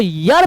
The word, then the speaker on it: year: आप इसको ईयर पढ़ते हैं तब तो मसला ही खत्म है, लेकिन अगर आप इसको यर पढ़ते हैं, which is the right pronunciation, then you are good to गो। यर, यो र यर।